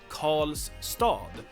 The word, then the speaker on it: Karlstad: say here is that R and L usually in Swedish get merged into a retroflex consonant that sounds like Karl. So the tongue the tip of your tongue flexes and you get one sound.